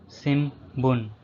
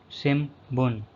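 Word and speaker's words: 新聞: Shimbun. Shimbun. Newspaper. In this word, the N syllable pronounced as M is Shimbun.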